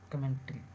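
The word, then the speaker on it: commentary: चमेलियन कमेंट्री कमेंट्री है लेकिन correct spelling कमेंटरी इसको पढ़ेंगे हम लोग कमेंटरी नहीं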